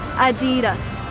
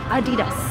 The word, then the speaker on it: Adidas: You probably called it Adidas or something else, but the correct way to pronounce it in American is Adidas. Adidas.